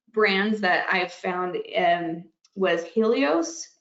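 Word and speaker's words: Healios: One of the brands that I've found was Helios, that's spelled H-E-A-L, so Heal, ios, I-O-S, and it has L-glutamine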